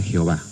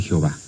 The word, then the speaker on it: Jehová: Y entonces, combinando estos signos vocálicos de Adonai con las consonantes de Yahvé, se forma la palabra Jehová.